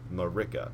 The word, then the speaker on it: Marika: Stake of Marika. That's it. That's the pronunciation.